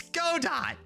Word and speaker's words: Godot: You use Godot though, huh?